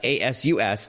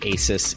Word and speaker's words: Asus: for more info that's a s us /us /r a do and yes you can call the company ASIS if you want but it is Asus ASU Escom and they